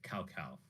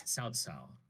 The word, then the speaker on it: Cao Cao: And I guess there you could have like there's a guy, his name is Cao, so it looks like cow cow, but it's Cao Cao.